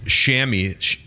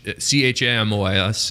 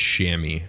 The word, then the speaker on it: chamois: like i'm just crashing shammy c-h-a-m-o-i-s is pronounced shammy not loser chamois oh my god how do i turn that off yeah it's well we pronounce it shammy because it's like the shammy button i've used that in